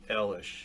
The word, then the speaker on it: Eilish: how to say her name I'm saying Billy Elish so it's a list there's a II I